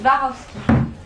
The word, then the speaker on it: Swarovski: Comment on prononce? Swarovski. Swarovski.